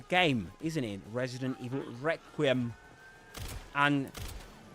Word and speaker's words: Requiem: In both pronunciations, however, you do the main accent, the accented syllable is the first one, re, Requiem, and Requiem.